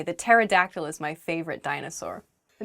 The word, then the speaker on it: pterodactyl: that on my own pterodactyl begins with a p but we don't say the ps just starts with a t sound in a sentence you might say the pterodactyl is my favorite dinosaur